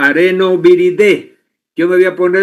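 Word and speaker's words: Arenaviridae: La familia es el areno viridae se escribe y se pronuncia arenoviridé.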